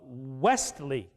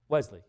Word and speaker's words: Wesley: probably that t little the stl is a difficult pronunciation in england in english sorry uh westley i have to i have to to get get the tea in there i've gotta i've gotta stop and make an emphasis on the tea westley you could easily hear of the wesley wesley you can see why the t would get dropped in pronunciation so was the t